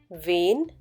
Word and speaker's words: wen: pronounce these three words: wen, wenn, wann. Just a few alphabets make the difference in their pronunciation. Do pay attention. In wen, there is a longer A sound, whereas wenn has a short one.